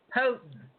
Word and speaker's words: Houghton: Okay, I know I'm saying it wrong again. Houghton, like Hought. Ton is the end.